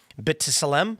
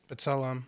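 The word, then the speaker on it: B'Tselem: It said this is sub substantiated by ICJ findings, UN experts, Amnesty International and Israeli rights groups like Betism. How do you say that? Bet Salam.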